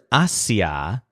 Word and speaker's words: hacia: reach the waterslide but the word hacia with the stress on that first syllable ah means to ward